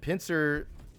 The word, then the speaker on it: PNCR: the pincer uh and pincer is is how you pronounce pncr which is the name of the weapon pncr stands for point and click rifle and that's the actual